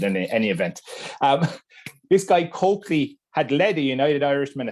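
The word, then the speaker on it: Colclough: For some reason that's known only to Wexford people, you actually pronounce this guy's name as Coakley, right? But in any event, this guy Coakley had led a United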